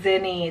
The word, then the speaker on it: Zinni: name meaning Sun then I have zinni's z-i-n-n-i zinny this is such a fun peppy said name